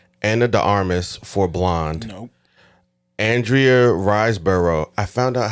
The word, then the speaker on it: Andrea Riseborough: before that but I learned how to correctly pronounce it on Saturday what's her name again Andrea riseborough okay never heard for uh to Leslie uh